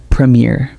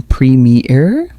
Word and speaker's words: Premier: Premier. Premier. Again, premier. One more time. Premier. Did you feel the difference from preme error? Notice the short first syllable and the soft second syllable.